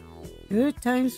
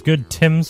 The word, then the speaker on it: Good Tims: Good Times for all good times for all actually I believe it's good tims for all if you guys actually look at his name everybody's mispronounced it the entire time good tims I got